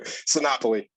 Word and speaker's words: Sinopoli: out I am too sinopoly Monopoly yeah there it is oh like Monopoly yeah exactly yeah exactly